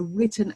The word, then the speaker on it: written: rules a little bit but it's a silent w so we need to research any funding opportunities we need to think about where it is going to be a written application written proposal written